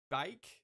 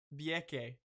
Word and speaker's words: Bieke: We have, I'm going to try and pronounce this correctly, Isabel, Bike. I've already messed it up. Bieke. Okay, Bieke.